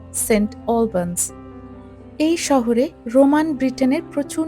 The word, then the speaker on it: St Albans: এখন নামকরণ করা হয়েছে সেন্ট আলবানস বা এখানকার প্রোনাউন্সিয়েশন অনুযায়ী সেন্ট অলবানস এই শহরে রোমান ব্রিটেনের